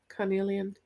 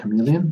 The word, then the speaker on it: carnelian: color which is um chameleon carnelian really not chameleon i can never pronounce that word properly thank you that authorities